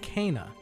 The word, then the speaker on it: Kena: helped Benny and S she pronounces herself Kaa I'm on my way